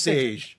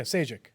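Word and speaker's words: Šejić: I heard it was Sage. Like, he actually put a pronunciation on his Twitter. Stefan It's Sage. Yeah, Sajic. but he leaves the IC off. He just Sage? He says it's how you Sean Connery would pronounce his name, and I'm like, oh, Sage.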